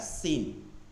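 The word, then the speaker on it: س: আর এটাও একই, জিব্বার আগা সামনের উপর দুই দাঁতের আগা সা, আবার জিব্বার আগা সামনে নিচে দুই দাঁতের আগা সিন।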